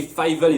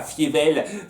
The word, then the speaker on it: Fievel: À nouveau, je dois toujours batailler pour me dire dans la tête, c'est Fievel et pas Fievel. Fievel. Toujours du mal à le prononcer comme ça.